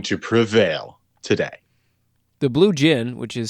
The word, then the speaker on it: Djinn: In round 3, we have the Blue Djinn of Babylon against Malekda.